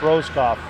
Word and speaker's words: Roscoff: Roscoff is a right pronunciation on that. Oliver on the faceoff here.